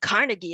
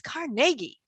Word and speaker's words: Carnegie: And she said, why are you saying Carnegie? It's Carnegie, right? So that's an evolution of the pronunciation of this name, right? He doesn't say it exactly like, or the people don't say it exactly like his European ancestors.